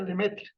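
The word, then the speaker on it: Lemaître: sacerdote francés llamado lemeth se escribe le maitre pero se pronuncia le mete y sube de ahí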